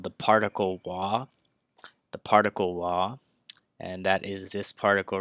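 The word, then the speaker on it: は: And if you guys do know what this character is, this character is ha. But when it's actually used as a grammar, it is actually pronounced wa.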